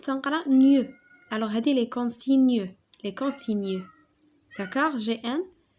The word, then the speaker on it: consignes: alors هذه les consignes les consignes d'accord. جي ان ça se prononce نيو.